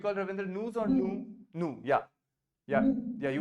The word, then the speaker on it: nous: So the S is never pronounced, right? It is nu, it is vous, it is il, and it is L.